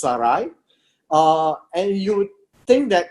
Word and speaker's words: Sarai: And that's how it's pronounced, it's Saray.